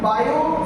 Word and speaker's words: Biot: है बायो Savart law actual में हम इसे बायो सेवट लॉ बोलते है बट उनकी जो पूरा नेम है बायो टी साइलेंट हो जाता है अब बायो का यदि